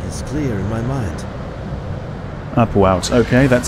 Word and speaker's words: Upuaut: Upuaut. Okay, that's how you pronounce that.